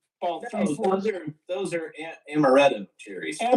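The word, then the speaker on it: amarena: Amber they make an ambulana cherry.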